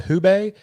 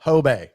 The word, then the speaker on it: Hubei: He's like, think of like hoe, and like your hoe is your bay. Like, like your bay. So like Hobay is how you say it.